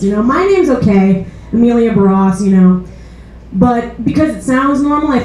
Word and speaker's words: Emilia: Like my my first name is Amelia, but it's spelled E M I L I A, which makes it look